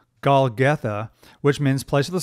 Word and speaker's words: Golgotha: And then they went to the place called Golgothine. I always mispronounce that. Golgotha, which means place of the skull.